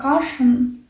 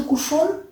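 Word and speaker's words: cushion: Я у меня есть кушон, но мне сестра сказала, вообще-то каше произносится правильно кашен, потому что кушон на немецком свинья.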